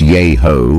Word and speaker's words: Yahoo: Yahoo Falls and nearby Yahoo Arch with Yahoo pronounced yho by some local residents are scenic stops within the Daniel Boone National Forest in McCreary County, Kentucky.